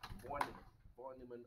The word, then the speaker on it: von Neumann: Or as I was corrected, it is supposed to be pronounced as von Neumann architecture.